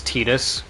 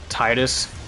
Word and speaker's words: Tidus: I really hate that Tidus's official pronunciation is Tidus, and not Titus, how you think it would be pronounced.